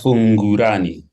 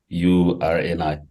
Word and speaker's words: Fungurani: Ansa Fungurani. Did I pronounce it correctly, Mikey? The surname. I'm not. It's it's Ansa Fungurani. So it's Fungurani.